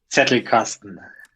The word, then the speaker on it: Zettelkasten: Zettelkasten? I'm going to butcher it. Zettelkasten? Zettelkasten.